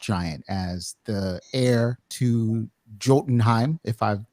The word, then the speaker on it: Jotunheim: But, I did kind of enjoy seeing Loki rendered as an actual frost giant, as the heir to Jotunheim, if I've pronounced that correctly. Jotunheim.